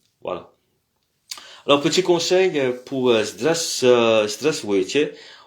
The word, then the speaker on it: здравствуйте: Au fait, c'est pas здравствуйте, on dit здравствуйте. C'est aussi contracté, donc on dit pas tous les lettres здравствуйте, on dit здравствуйте. Donc le вуйте, здравствуйте. Au fait, si on prononce tous les lettres, c'est здравствуйте, mais c'est здравствуйте. Alors beaucoup de Russes disent presque здрасте.